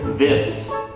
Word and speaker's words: this: So if you're talking about the singular, this, it's the short I with an S sound, this.